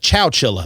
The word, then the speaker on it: Chowchilla: Chowchilla.